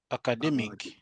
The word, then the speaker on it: academic: So, the rule is very simple, right? Every time you see uh any adjective that ends with it, then the syllable that precedes that should be stressed.